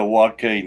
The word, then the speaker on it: Joaquin: or not oh yeah it was Joaquin yeah walking that's right I sure can't spell